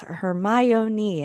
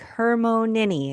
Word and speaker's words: Hermione: She had a Crum say her name. He trying to He's trying to get No, it's Hermione. And he's like Hermonini. And she's like close enough.